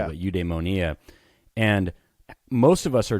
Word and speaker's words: eudaimonia: did you say that you de monia okay you de monia or it's spelled eudemonia you can say it however you want really but you de monia and most of us